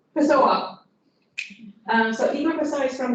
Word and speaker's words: Pessoa: So Igor, that is pronounced Pessoa.